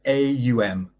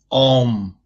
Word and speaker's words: AUM: Now, when I say, if you watch me for a second, I pronounce A and I close the mouth and it turns into M. Ow. It is not Om.